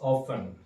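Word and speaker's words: often: I have और अक्षर की English ऑफन। ओ एफ टी ई एन। टी यहां पे साइलेंट होगा।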